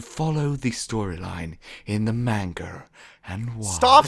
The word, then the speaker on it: manga: i've heard the pokemon manga is more dusty stop saying manger it's my britishness it's not how you say it manga better better all right manga that's gonna